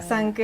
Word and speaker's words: Sanker: I think it's supposed to be. But it's hard to pronounce in Lao. Yeah, in Lao, that's why we dropped the edge. It becomes Sanker. Yeah. Sanker.